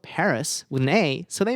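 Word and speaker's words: PVRIS: and easy to spell i'm a big fan of the band paris or rather pavirus but many people don't realize that what is spelled pavirus is actually paris they did this for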